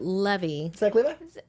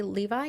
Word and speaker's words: Levi: with um was it levy was it was exactly like Zachary Levi yeah yeah yeah when I say I said the name wrong levy like like the song we drove down to the levee he's a New Orleans